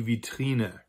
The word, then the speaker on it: Vitrine: as French, especially French, it is almost always pronounced like a V sound, just as it would be in French or in Italian, or what we think Latin used to be pronounced like.